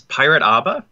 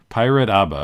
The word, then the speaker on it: Pirateaba: So it's Pirateaba. Pirateaba. Okay, so the E is silent, even though it has letters after it.